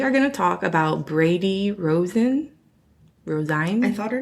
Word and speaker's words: Rosine: Okay, you have to commit to a pronunciation of the name. I'm going to say Brandy. Okay. Yeah. Well, I mean... It's Rosine. Rosine.